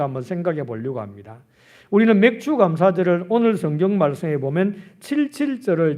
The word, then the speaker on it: 맥추감사절: 그러니까 아무런 거부감이 없었는데 요즘은 보리 농사도 안 짓는데 무슨 맥추감사절을 지키라고 하나, 발음을 정확하게 해야지 맥주감사절이라고 하면 곤란한데 왜 맥추감사절을 보리 농사도 안 짓는데 지키라고 하느냐라고 생각할 수 있습니다.